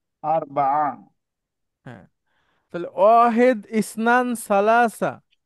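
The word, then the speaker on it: ثلاثة: হবে তাই না স্যার সালাসাতুনকে আপনি থেমে গেলে সালাসা বলা যায় গোলতা হা হয়ে যায় থামলে আমার সাথে বলেন আপনি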